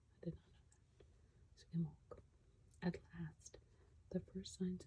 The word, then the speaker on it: Imbolc: She says you pronounce it Imbolc. I did not know that. So Imbolc.